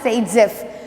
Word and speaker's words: Zaitsev: This is pronounced as Zaitsev.